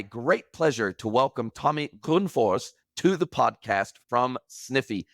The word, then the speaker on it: Grönfors: F it's actually pronounced gr Force it it depends a lot from it's a Swedish speaking name so it depends where